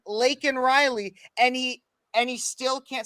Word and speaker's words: Laken: It says, say her name, Laken Riley. And he still can't say Lincoln.